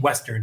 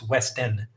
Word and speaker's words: West Endon: I said your name wrong. I was saying Western. It's West Endon.